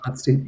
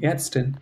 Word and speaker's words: Ärztin: Not Arztin, Ärztin. It's a umlaut. Ärztin.